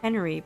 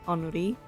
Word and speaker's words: Henri: It's spelled as if it called Henry, but it's pronounced Henri.